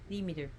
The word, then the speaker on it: Demeter: goddess the Meer so I'm pronouncing her name as best as I can in the Greek pronunciation of theer we pronounce